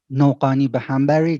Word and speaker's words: Noghanibehambari: is with a very weird last name no pani ba hambury that's the way we spell it but my name is